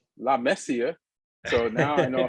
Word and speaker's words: La Masia: All this time I've been pronouncing La Masia the wrong way. It's La Messia.